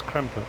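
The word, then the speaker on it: Krampe: And I've always said, oh, it's Cramp trailer. But it's Cramper as well. There's on the end of it.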